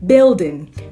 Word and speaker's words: building: And this one, building. Building, not building. No, okay? It's building after building.